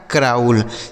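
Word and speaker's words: crawl: क्राउल। सी आर से क्र और ए और डब्ल्यू का उच्चारण औ एल से ल से हो जाएगा क्राउल मतलब होता है रेंगना।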